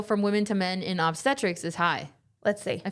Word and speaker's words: obstetrics: surgical specialty focused on pregnancy is called obstetrics. Oh, that's what I just said. Obstetrics. Obstetrics. Yeah. Thank you. Yeah. I was putting the emphasis on the wrong syllable.